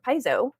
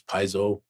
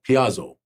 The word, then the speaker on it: Paizo: Amber, do you know that like for 15 years I did not know how to pronounce Paizo? How did you say it? Piazzo.